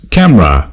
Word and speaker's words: CAMRAS: as I understand it, it's pronounced in Dutch as Camera, with a silent S, and stands for the C.A.